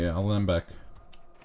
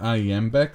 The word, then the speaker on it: alembic: My alembic. I kept pronouncing it iambic like it was a Spanish word.